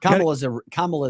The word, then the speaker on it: Kamala: Kamala is the proper pronunciation.